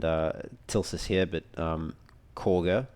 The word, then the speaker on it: Kagha: tilsus here but um corger even though it's spelled kagger but Korger the um the Druid